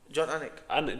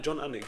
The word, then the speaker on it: Anik: John Anik. John Anik.